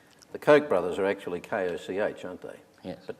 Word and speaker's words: Koch: context i guess the koch brothers are actually koch aren't they yes that pronounced coke yeah and they're two two billionaires